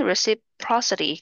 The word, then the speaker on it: reciprocity: reciprocal 상호간의 자, 명사형은 reciprocity 강세가 여기 있어요.